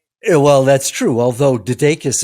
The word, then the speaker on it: DeDakis: Although Dadakis is one of those tricky names. It's like Dawadis. So I'll spell it.